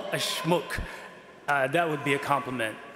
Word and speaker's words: Schmuck: But in German, that word, which, by the way, I'm going to pronounce it the German way, okay? It's schmuck.